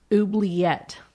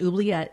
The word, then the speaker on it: oubliette: There was a room off the Bloody Chapel that is called the Oubliette. Okay. It's French. I hope I pronounced that right. Oubliette. So this is from the French word oublier, meaning to forget.